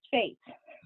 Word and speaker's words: Fete: yes we are related yes it is pronounced fate he is the director